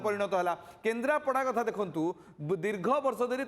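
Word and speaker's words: କେନ୍ଦ୍ରାପଡ଼ା: इंग्राजी लेखाटा पढ़ो तो तार उच्चारणटा सेपरी भाव में केन्द्रापड़ा किंतु केन्द्रापारा बोलिकी आम प्रोनाउंस करूँ सबुठ बड़ आश्चर्य होची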